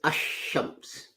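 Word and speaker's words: الشمس: Now, if you add al to shams, that becomes ash-shams. Although lam is written, in pronunciation it's dropped.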